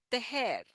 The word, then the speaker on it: tejer: Te, and then the ha. For the ha sound, the tongue is completely at the bottom, ha, resting on our lower palate, ha, and then we just blow the air.